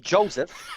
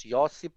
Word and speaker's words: Josip: You're extremely close, because before you called him Joseph, like the dude from the Bible, but Joseph is very close. Josip Broz Tito.